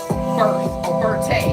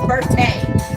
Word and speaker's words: Berthe: Berthay. She said, my name is Berthay. I said, girl, it's spelled Berthe. It's Berthay.